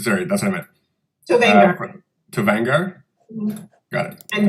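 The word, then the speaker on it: Tovaangar: Tovangar.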